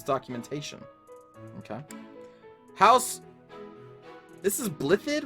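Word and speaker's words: Blaiddyd: okay house this is blip-it right like they don't pronounce the double d's this house claims blithe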